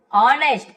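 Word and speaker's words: honest: ऑनेस्ट ए silent होता है ऑनेस्ट पढ़ते ईमानदार।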